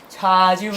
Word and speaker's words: 좌지우지: 발음 조심하세요. 좌지우지.